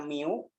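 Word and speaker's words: μ: Jadi, probabilitas di sini P ya, X, ini dibacanya mu.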